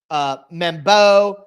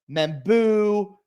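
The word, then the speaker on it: Membou: Armand Membo, I've heard him called Membo, Membu, all different kinds of things. It's like every time I think I know the pronunciation, I see it differently, but I think it's Armand Membu. That's what's in the Beast from Dane Brugler, so that's what I'm going with.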